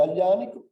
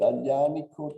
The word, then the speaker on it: Aglianico: Somebody says in some way the wrong pronunciation due to the Borbonic period in Sicily that transformed Ellenico in Aianico, no, because of the GL that are not used.